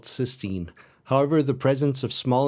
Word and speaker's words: cysteine: And yes, conveniently for everyone, they're both pronounced the same way. Almost a century later in 1899, cysteine was isolated as a breakdown product of proteins.